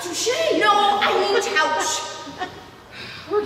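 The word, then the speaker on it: touché: Touch. It's pronounced touche.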